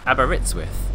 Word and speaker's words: Aberystwyth: Aberystwyth. That's how you pronounce it.